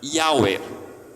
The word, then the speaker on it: Yahweh: A gente falaria assim, Yahweh. Alguns vão traduzir por Javé, Yahvé. Mas é curioso que as letras YHWH, Yahweh, se a gente pronunciar da forma correta, fica um sopro, um suspiro, que é o que